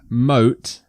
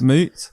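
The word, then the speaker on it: Moët: you drink at some old moat I think that's how it's pronounced it's moot moot it's me it's me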